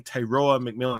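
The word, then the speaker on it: Tetairoa McMillan: And I said his name Tayora McMillan. I believe that's how you say it properly because a lot of these other cats are too lazy to call him his real name.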